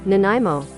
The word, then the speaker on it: Nanaimo: Nanaimo. Oh, Nanaimo. Okay, so Nanaimo. Nanaimo. I hope that's not copyrighted. I swear to fucking God, if that's copyrighted, I'm gonna get... Oh, man. So Nanaimo.